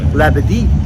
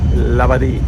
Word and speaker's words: Labadee: And it's pronounced Labadee. Labadee.